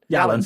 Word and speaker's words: Yalan: Yalan. Sorry. Yeah, no, Alan with a silent Y. Alan with a Y.